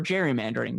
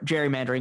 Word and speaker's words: gerrymandering: Today, the only reason we remember him is for gerrymandering, which eventually they softened the hard G.